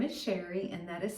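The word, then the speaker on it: Cherri: My name is Sherri and that is spelled c h e r r i. It is spelled a little fancy but pronounced plain old Sherri.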